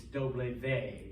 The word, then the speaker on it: doble ve: that's why um but the official name is doble vey and i always tell people it kind of